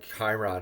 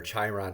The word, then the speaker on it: Chiron: pause and review uh the wounded healer Chiron or chyon however you like to pronounce it that asteroid will be